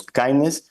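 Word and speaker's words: KINDNS: DNS and naming security so this we pronounce kindness and it's basically that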